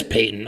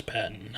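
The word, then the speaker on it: Paton: Um, or it is Payton. Oh, okay. I thought it was Patton. I I see the pronunciation here.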